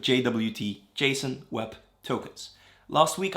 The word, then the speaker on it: JWT: web tokens or jwt apparently the recommended pronunciation is jot but i'm going to stick with jwt jason web tokens last